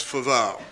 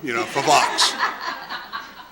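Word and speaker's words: Foveaux: Calvert Middle School was my inability to pronounce, make F-O-V-E-A-U-X come out as Favaux. I was just determined that that X was going to make a sound, Favox.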